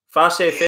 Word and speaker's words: Facey: Your grandfather, Albert Facey, is that how you pronounce his name? Facey.